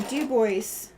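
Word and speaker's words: Dubois: It is not Du Bois, it is Du Bois. Or Du Bois. I don't remember the inflection, but you have to pronounce the S. That much I have learned. I have learned you do not leave off the S in Du Bois.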